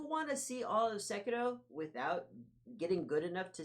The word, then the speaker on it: Sekiro: Somebody boots up the game, plays the whole Sekiro. I was saying it wrong. Sekiro.